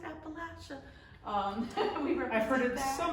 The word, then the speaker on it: Appalachia: products West Virginia products Appalachia and it is pronounced Appalachia um I've heard it so many ways I